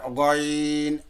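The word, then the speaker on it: غين: জিহবার আগা, এখান থেকে জিহবার গোড়াটাই হলকের শুরুর দিকে চলে গেছে, ওই শুরুর থেকে গয়ন, গয়ন উচ্চারণ করতে ভাইয়া, গইন, গয়ন।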